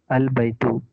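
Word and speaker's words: البيت: Example, Al Baitu. Here the A is pronounced, but if it is preceded by Wa, meaning and, G, and the A is dropped and the phrase is pronounced Wal Baitu.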